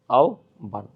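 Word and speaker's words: আহ্বান: আহবান শব্দ উচ্চারণ কি? আহবান হয়। এখানে আহবান হবে। আওবান। তো এ ছিল হচ্ছে আমাদের শুদ্ধ উচ্চারণ।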